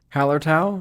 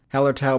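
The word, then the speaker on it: Hallertau Blanc: brewed with milk sugar hallertois blanc and mosaic hops that's so wrong hello howler tau that's how you say it heller tau blanc and mosaic hops and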